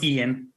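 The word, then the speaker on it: Eoin: o i n or e-o-g-h-a-n both the same pronunciation just two different spellings Jeff what do you think I'm gonna go Ian e-o-i-n I am also uh I'm gonna say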